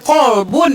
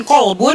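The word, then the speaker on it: قلب: Kalau kalbun itu dia pakai K, kalau kolbun itu pakai kop, benar nggak? Betul. Iya, jadi kalbun itu K. Jadi gini, kalbun dan kolbun memiliki kemiripan dalam penyebutan, namun sangat jauh berbeda dalam bahasa, dalam makna.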